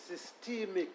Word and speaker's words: systemic: We have a different pronunciation, so we say systemic. Is that what you... Safe. And what was my pronunciation? A long E sound. I said systemic. Yes. And you say systemic.